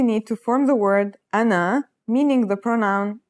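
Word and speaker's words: أنا: They are the letters you need to form the word ana, meaning the pronoun I.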